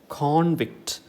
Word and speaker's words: convict: a noun form and the stress falls on the first syllable con okay so this is convict but this one is